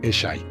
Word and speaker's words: Eshe: Un pequeño detalle curioso para los australianos es que uno de los personajes se llama Eshe y se pronuncia Eshy.